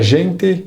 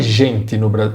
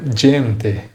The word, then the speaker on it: gente: A tradução é e a gente que corria. Aqui, atenção redobrada na pronúncia da letra G. Em italiano, o G tem som de DJ, então não fale gente como no Brasil. O correto é gente, gente.